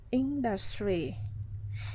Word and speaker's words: industry: Bỏ didn't đi rồi thì chúng ta sẽ đưa become thì quá khứ thành became an industry. Cái từ industry này các bạn trọng âm ở đầu nhá.